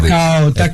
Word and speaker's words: Takao: É Takao mesmo ou é Takao? Agora fiquei na dúvida. Takao, isso mesmo.